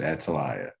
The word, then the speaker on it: Atalaya: Des here recently came out with his own album, Atalaya. Did I pronounce that right? Yes, you did. It's pronounced Atalaya.